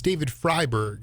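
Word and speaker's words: David Freiberg: Service uh is what is it David it's David fryberg right is how you pronounce his name yeah yeah so uh he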